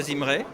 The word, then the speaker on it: Zimray: Moi, je m'appelle François Zimray, ça s'écrit Z-I-M-E-R-A-Y, et je suis ambassadeur de France en charge des droits de l'homme.